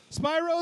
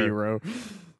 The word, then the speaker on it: Spyro: Him and I can play Spyro the Reignited Trilogy together. Spyro. I'm sorry. That's the way it looks, the way it's spelled. It's spelled Spyro, like, clearly. It's the word spy and row.